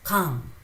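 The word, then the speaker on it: 강: So here it is not Gang or Kang or Gang. It's Kang. It's Kang.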